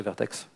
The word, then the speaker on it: Vert.x: Alors je dis Vertex de temps en temps, hein, mais la vraie prononciation c'est Vertex.